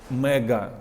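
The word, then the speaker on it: MAGA: Make America Great Again в Америці якраз таки читається як мега да типу Велика супер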